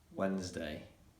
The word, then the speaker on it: Wednesday: So for example, Wednesday, the letter D is silent.